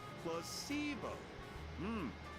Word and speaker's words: placebo: Placebo. The stress is on the middle syllable.